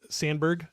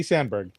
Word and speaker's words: Samberg: Springs I don't know if you're um with sanberg um was that on Hulu yeah yep um